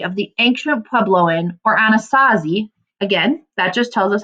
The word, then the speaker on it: Anasazi: At Mesa Verde, more than 600 cliff dwellings tell the story of the ancient Puebloan or Anasazi. Again, that just tells us how to pronounce that.